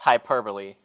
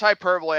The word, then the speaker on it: hyperbole: pronounced hyperbole. Yeah, it's hyperbole.